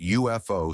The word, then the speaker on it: UFO: written abbreviation a UFO the abbreviation UFO is pronounced UFO starting with a J sound which is a consonant sound so a is used